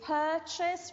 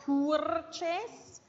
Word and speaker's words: purchase: Acquistare is purchase. Remember, not purchase. Purchase. The R is silent for the pronunciation.